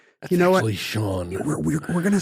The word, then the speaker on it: Sean: Her husband's name Sean. She pronounces it Cian.